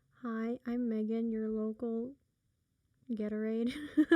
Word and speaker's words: Gatorade: like gatorade fits you i say it wrong remember the name the name is gatorade i so i've always said it as ghetto raid i don't even remember how i was pronouncing it i thought you pronounced it right no you said it as gatorade i did but i said ghetto raid let's listen to the